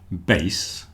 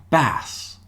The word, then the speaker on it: bass: We have another word bass which refers to the low notes in music. This is why we have a bass guitar. But there's another one. This word is pronounced bass.